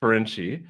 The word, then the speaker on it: Ferenczi: her last name is fenzi or freni if you're pronouncing it according to the Hungarian Heritage that it came from she's a business consultant